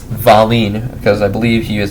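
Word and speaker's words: Wallin: and polishi at the the W that sounds like a V like valeen um originally the Stars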